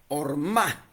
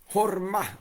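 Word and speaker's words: ormâh: Esa palabra es e es hormá. Horma, así horma como si fuera una una H, una J sutil, pero se escribe no se escribe la H ni la J, se escribe O R M A h.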